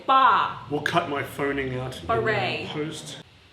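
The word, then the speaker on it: barre: Let's not forget the bar gaff when he pronounced it bar-a, and then everybody pretended like they knew what that was, but we all had to look it up. It's bar. I think it's exercise on a bar in dance studio.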